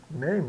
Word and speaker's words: name: o som de e name né então name e o e final mudo né quase sempre ele é mudo no final então name e mil